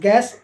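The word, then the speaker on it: guess: RD guard यानी चौकीदार जी यूई डल एस गैस या अनुमान जी यई एसटी गेस्ट यानी अतिथि सभी में जो है आपका यू साइलेंट है क्लियर तो उम्मीद करता हूं कि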